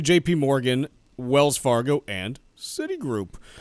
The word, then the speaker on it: JPMorgan: and and saai group was jip Morgan some sort of like joke about it being a a jip to bank there or were you just I was just mispronouncing their name um so it's actually JP Morgan Wells Fargo and City